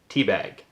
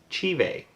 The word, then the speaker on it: Te Bheag: Because it's phonetically pronounced Te Bheag, but it's Gaelic, and it is pronounced Te Bheag.